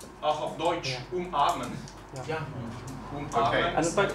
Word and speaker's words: umarmen: Auch auf Deutsch, umarmen. Yeah. Umarmen. And but in German, umarmen is umarmen. Yeah, it's in glottal stop.